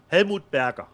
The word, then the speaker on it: Helmut Berger: How do you say Helmut Berger in German? Helmut Berger.